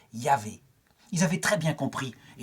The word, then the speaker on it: Yahvé: » Je suis, et ça se prononce en hébreu, Yahvé.